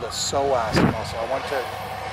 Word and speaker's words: psoas: Reggie's got, he's got a pulled groin, or it's called a psoas muscle. I went to 4 years of anatomy to learn that you spell that P-S-O-A-S.